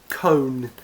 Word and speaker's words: cone: read the next one con again o in a word becomes o con but again again magic e changes it to Cone and yes my whiteboard